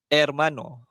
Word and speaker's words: hermano: Ejaan dia H O L A. Okey. Tapi kita sebut ola. Okey. Ataupun perkataan lain, Ermano.